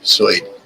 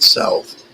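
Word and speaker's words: Suid: It's spelled s ui d. Soy, not south. Soy Africa.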